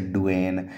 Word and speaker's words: Duane: इसे डुएन या फिर हंट कुछ ही बोलते हैं, डुएन बोलते हैं, कई किताबों में डुएन लिखा रहता है, तो स्पेलिंग्स इसकी देख लीजिए, डुएन या फिर डुआने कुछ ही पढ़ लो, इसे हंट कुछ ही पढ़ लो।